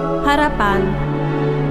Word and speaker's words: harapan: Harapan. In indonesiano la parola speranza si pronuncia così, harapan.